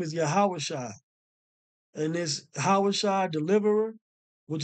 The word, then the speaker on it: Yahawashi: in the Greek Yus right his name is yahawashi and this yahawashi deliverer which is the same